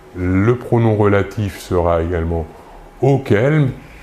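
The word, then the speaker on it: auxquels: Si le complément d'objet indirect est masculin pluriel, le pronom relatif sera également auquel ? C'est la même prononciation, mais attention, il faut ajouter un X entre le U et le Q et également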